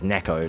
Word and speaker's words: Neko: Neko, not Nico, it's Neko, Japanese, yeah. Like Neko.